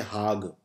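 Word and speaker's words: Hague: भी है हाग में इसे प्रोनाउंस करते हैं हाग तो आंड होमन यूनिवर्सिटी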